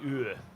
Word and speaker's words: Talviyö: I don't know how to pronounce that in Finnish. Talviyö.